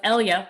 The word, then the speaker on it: Elya: and danny sterling of elya which essentially rhymes with helya so did danny